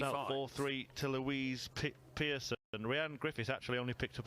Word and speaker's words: Rhian: You say it properly as well, don't you? The Welsh way, Rhian. I'm going to have to get used to that.